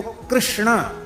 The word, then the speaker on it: कृष्ण: है क्यों कहेंगे च अब देखो कृष्ण यह शुद्ध उच्चारण कृष्ण यह शुद्ध उच्चारण है।